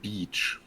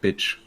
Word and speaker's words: beach: to say the word beach. You know, because you went to the beach with him, and your pronunciation was quite funny because you always made it sound like bitch.